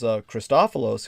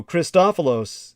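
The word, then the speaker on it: Christofilos: involved in that so christopholos he worked on fashioning magnetic bottles and just think about his name christopholos it's spelled like christ c-h-r-i-s-t and then an o-f-i-l-o-s christophelos and these magnetic bottles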